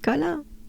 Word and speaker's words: Colin: Colin is the French version of Colin, but we pronounce it Colin. So col. I could say actually, think about all the col name that we've been through, all the climbs. Col, and you add the sound.